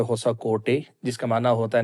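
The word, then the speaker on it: Hosakote: شہر کے مضافات میں ایک قصبہ ہے ہوسکوٹا، جس کا مقامی زبان میں تلفظ ہوتا ہے ہوسا کوٹے، جس کا معنی ہوتا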